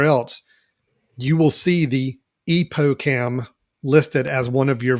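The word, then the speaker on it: EpocCam: I'm not sure how to pronounce it. It's Epocam.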